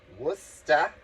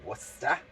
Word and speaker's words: Worcester: We went to Worcester, Massachusetts this weekend. I did a B. Arthur bingo in Worcester. Worcester. I said Worcester on some video and Anthony corrected me. It's not Worcester, it's Worcester.